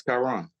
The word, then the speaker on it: Kyrone: looking past hey how do you say your name Kon or chirone it's Kiron one more time tyon